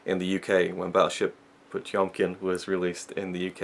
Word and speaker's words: Potemkin: I read some of the booklet, and it's pronounced Battleship Potemkin.